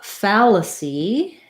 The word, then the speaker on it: fallacy: uh see adequacy uh fallacy fallacy um we have again that black cat vowel so it would sound